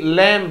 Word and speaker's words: lamb: यदि किसी वर्ड के एंड में MB आए तो वहां पर मैं ही होगा, MB में B नहीं प्रोनाउंस होगा।